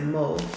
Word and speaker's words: Mauve: I have a French tongue, so I pronounce it Mauve.